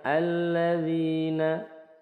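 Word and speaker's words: الَّذِينَ: Silah yang artinya menyambung jadi di awal bacanya alladzina tapi kalau semisal di wasal ayat 2 dan 3 misal hudallil muttaqinalladzina jadi Lil muttaqinalladzina bukan Lil muttaqina alladzina ya langsung ke lamnya Hamzah wasalnya tidak dibaca alladzina Ini Mad eh Mad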